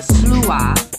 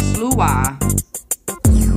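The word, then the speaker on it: sluagh: We have the slua. It's spelled S-L-U-A-G-H, but to pronounce it, it's S-L-O-O-A-H, slua.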